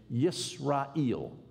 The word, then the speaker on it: Israel: Well, in the middle of the second millennium BC, around 1500 BC, the way you would have said Israel is to say Yisrael.